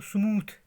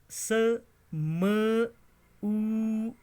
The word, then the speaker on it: smooth: SMOOTH, हम पढ़ते हैं इसको स्मूथ, मगर स्मूथ नहीं है, ये है स्मूद, स्मूद, स्मूद, स्मूद, स्मूद.